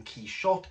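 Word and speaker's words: Quichotte: quest and that is key shot it's worth noting that within the preface rushdie tells us that the pronunciation key shot comes from the french pronunciation of that is what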